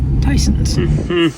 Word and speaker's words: Thiesen's: But I'm gonna go try Thiesen's out now, which by the way is actually pronounced Tyson's.